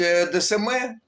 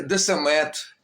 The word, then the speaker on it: Десме: Карлом яковичем в Одесі кінцева літера Т яка не вимовляється у французькій мові озвучувалося замість десме казали десамет чи десмет Жак Луї десме народився